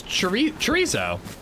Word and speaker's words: chorizo: It's chorizo. more like eiso. The Z is an S.